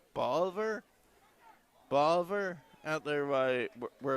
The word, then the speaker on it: Bolivar: I call it Boulevard, but I think it's Bolivar.